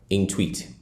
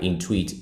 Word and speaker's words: Intuit: Now this website is called Intweet.